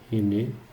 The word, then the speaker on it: René: René Descartes. Assim que se escreve, mas se fala René Descartes porque ele é francês.